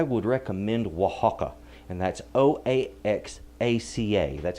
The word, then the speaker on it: Oaxaca: If you want a good Mexican cheese, I would recommend Oaxaca, and that's Oaxaca. That's how you spell that.